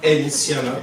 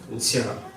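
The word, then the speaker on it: N'Tiala: C'est pas Intiala, c'est pas Ntiala, parce que j'ai pas la N. C'est N apostrophe, Ntiala.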